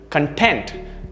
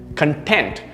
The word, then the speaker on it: content: at the stress here content the pronunciation is stressed towards the second part or the second syllable content which is to be